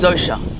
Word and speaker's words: Zoshia: So your name's Miss Zoshia, is it? I pronounce the name that people call me as Zosha.